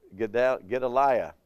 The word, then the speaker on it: Gedaliah: It says, when Gedaliah was, Gedaliah, that's how it should say, Gedaliah was governor, he exhorted the Jews not to fear the Chaldeans.